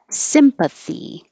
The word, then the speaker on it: sympathy: And the noun has stress on the first syllable. Sympathy.